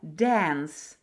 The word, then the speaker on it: dance: D, A, N, S – dance – танцевать. Учебник дает звук «а», но большинство ребятишек и взрослых сейчас произносят на американский манер «э» – «dance». Это не ошибка, это американизм.